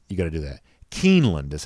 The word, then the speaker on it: Keeneland: Keeneland is how you say it.